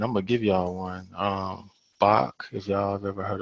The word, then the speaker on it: Bach: name right but it's b a c h pronounced Bach like b a c k hey uh with a